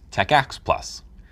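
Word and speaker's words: TACACS+: may come with it t-a-c-a-c-s plus pronounced techx plus it stands for terminal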